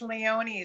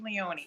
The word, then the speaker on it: Leone: or leone no it's leone so my husband's name is tony so it rhymes tony leone so just remember that way that you've been doing